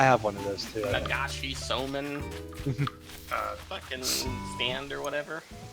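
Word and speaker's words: 流しそうめん: Nagashi Soman Uh, fucking stand or whatever. I think that's how they pronounce it.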